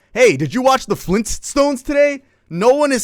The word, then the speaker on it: Flintstones: Because no one is pronouncing that T. Hey, did you watch the Flintstones today?